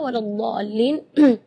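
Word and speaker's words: وَلَا الضَّالِّينَ: Di kalimat ini juga waladdallin yang perlu diperhatikan adalah madnya juga. Mad di situ kita harus panjang membacanya 6 harakat, karena di situ hukumnya mad lazim kalimi mutsaqqal. Jadi membacanya waladh 6 harakat. Terus setelah waladh di situ ada huruf lam yang ada di atasnya ada tasydid. Itu seringkali ketinggalan waladhdallin. Nah, itu berarti tidak ada tasydidnya.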